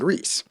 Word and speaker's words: Rhys: session, session 1, with Rhys. I found out the name R-H-Y-S is actually Welsh and is pronounced Rhys.